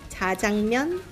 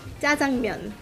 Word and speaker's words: 짜장면: So there's two ways of pronouncing it. Hmm? The first one is 자장면. And then the second way is 짜장면.